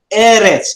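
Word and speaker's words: ארץ: feminine form sorry feminine gender notice how to pronounce it eres it's a goal now the plural plural it's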